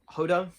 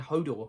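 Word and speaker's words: Holdo: relationship with hodo um hodo yeah oh i always say her name wrong i always end up saying hodor it's like no that's game of thrones um hodor general hodo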